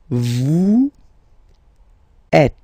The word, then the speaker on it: êtes: Vous êtes. Same thing here. Notice that final S is not pronounced.